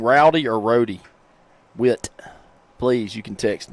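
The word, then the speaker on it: Rohdy: How do you say your name, son? Rody.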